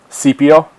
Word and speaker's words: Scipio: Cassell has graced Cassell and Scipio. Is that how you guys would pronounce it? just think of C-3PO from Star Wars.